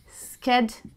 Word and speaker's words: schedule: Now, the British pronunciation is Shed-yul, okay? So it's like shedding your clothes, so Shed-yul. However, Americans pronounce this word as Sked-yul. So it is schedule versus schedule.